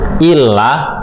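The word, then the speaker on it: إلا: Wa ma yahda'una, dan tidaklah mereka menipu, illa, kecuali. Illa, kecuali. Kalau ila, ilaika, kepada engkau, ila, ya. Kalau ila, kepada. Kalau illa, ada tasdidnya di sini, artinya kecuali.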